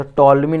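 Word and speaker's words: Ptolemy: तो टॉलमी ने दिया गया है, किसके द्वारा, टॉलमी, पी यहाँ पर साइलेंट है, टॉलमी के द्वारा दिया गया। यहाँ पर पी जो है बच्चा वो साइलेंट है, टॉलमी के द्वारा।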